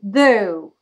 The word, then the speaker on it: though: you can see the the word starts with the th and the pronunciation of this will be the the so my tongue is between my dentures my teeth the okay so the the is the first sound and though will be the correct pronunciation i know many students